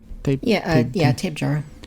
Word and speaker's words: Tapejara: I think I see a Proceratosaurus in there, Dimorphodon, Tapejara, or how do I pronounce that? Is it Tapejara.